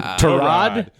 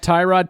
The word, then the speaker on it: Tyrod: is through hard knocks we've been pronouncing his name wrong his entire career tarad yeah taylor it's not tyrod taylor listen this is not